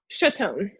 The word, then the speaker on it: Chaton: Chaton.